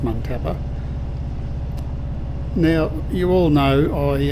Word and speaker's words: Muntapa: I think it's pronounced montappa.